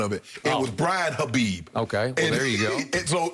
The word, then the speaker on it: Khabib: me for this but I'm going to pronounce it khabib because I think we're supposed to but whatever it's okay I think we Americanized it to kabib actually I played with